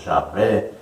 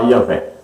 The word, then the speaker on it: Yahvé: Alguns falam Jeová, outros Yahvé, outros Javé. Melhor falar Yahvé, que é aí a pronúncia mais aproximada do tetragrama da palavra de 4 letras aí, YHWH.